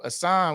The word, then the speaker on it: Asan: Asan, what's up? Now I just like saying your name since I'm saying it right. I was saying Eason.